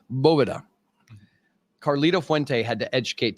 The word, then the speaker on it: Boveda: hell are you doing it is not BEDA it is BOA Caro Fuente had to